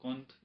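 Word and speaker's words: Comte: کہ اگست کانٹ یعنی ایک کانٹ ہے، ایک کنٹ ہے، اگست کانٹ اس کو یہ زیادہ تلفظ کرتے ہیں۔ اس نے آ کر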